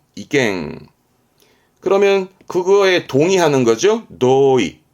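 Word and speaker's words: 意見: 요게 의미죠 이미 이미의 이견 이죠 참 아시겠지만 이갱 이갱 그러면 그거에 동의하는 거죠 도이 도이 의도 의도한다 발음은 이토 이토 의향 방향의 향자 그 사람의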